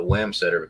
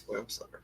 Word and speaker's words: Wamsutter: I always called it Wamsutter because it was W-A. It's Wamsutter. They're being silly.